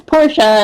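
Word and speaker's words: Porsha: say my name wrong because it's porsa and some people call me Porsche or whatever so it sucks and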